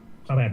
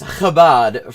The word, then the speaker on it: Chabad: Yeah, it's Chabad, first of all, which, you know, if you're gonna talk about it, maybe find out how it's pronounced, maybe actually do the basics of due diligence, but okay.